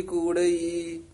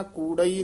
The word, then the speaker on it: कूड़ी: नानक गली कूड़ई। ये भी ध्यान नाल पद उच्चारण करना, कूड़ई नहीं कहना, कूड़ी कूड़ी इन तेज उच्चारण कट्ठा ही करना है।